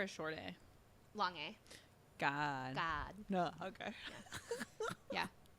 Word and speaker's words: Kad: because it's like it's the gag guy sound in Thai which is like somewhere between a g and a k so it's not God like G and it's not C it's God like it's it is